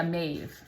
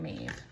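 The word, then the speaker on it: Maeve: okay so it says how do you pronounce her name yeah mave that's how you pronounce her name mave so it says mave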